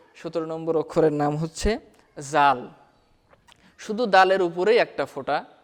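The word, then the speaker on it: ذال: জাল জিহুবার আগা হতে নরমভাবে আদায় হবে।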